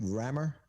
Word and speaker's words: Rammur: the rammer is that is that how we pronounce it rammer yeah and and fortunately most people are getting